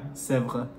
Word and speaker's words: Sèvres: In proper French, yeah, Sèvres. Sèvres. Yeah, you have to roll the R.